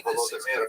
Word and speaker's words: Volodymyr: What's especially important in its history is the conversion of one of its leaders, the Volodymyr, pronounced in Russian Vladimir, shown here as a statue overlooking the Volodymyr made a decision basically.